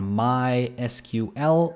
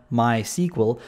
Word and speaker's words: MySQL: It's Quinc here and welcome to my tutorial series on MySQL or actually rather my SQL because that is how it's pronounced. It's pronounced my SQL, not MySQL, but I'm one of